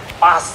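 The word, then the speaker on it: Paas: Gerhard Pas ya. Ini kalau teman-teman Bapak Ibu sering lihat bola ya ini bukan Martin Pice ya bukan kipernya Timnas kita tapi ini bacanya adalah pas ya.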